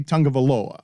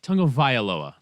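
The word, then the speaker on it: Tagovailoa: I want to say Tungavaloa. Am I saying it correctly? Because I'm scared of it. I think you got it. Needs a little I. Tungavailoa.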